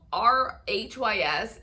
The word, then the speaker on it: Rhys: twins wrist and Rhys I'm sorry Rhys it's spelled r-h-y-s and so my brain automatically goes to risks but it's Rhys and then Rory it